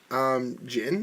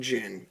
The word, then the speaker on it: Jyn: She plays the character Jin. Is that her name? Jin. Jin. Yeah, it's spelled Jyn. Oh, I would say Jin then. So Jin, I guess.